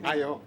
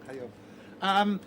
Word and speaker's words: Ayo: You said it wrong. Ayo Daly. Ayo. Yeah. Ayo.